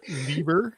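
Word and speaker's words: Leiber: E I B R Liber. And so yeah, Prince Fle. I always say FR. So I always went So he says it himself. He calls himself liber.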